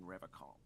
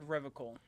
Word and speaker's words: Revachol: You said Revachol. I like to pronounce it the hard way, the old way, the Vespertine way.